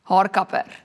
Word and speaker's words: haarkapper: Haarkapper. It's like literally like copping hair. Haar? Haarkapper You roll something. R Haarkapper.